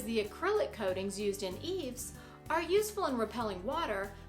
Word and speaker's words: EIFS: insulation and finish system, EIFS, pronounced eaves.